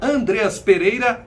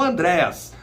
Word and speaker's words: Andreas: Você que não acompanhou a coletiva de apresentação do novo reforço do Mengão, o meia Andreas Pereira, não Andrés. Andreas Pereira, ele falou, o nome dele é pronunciado dessa maneira.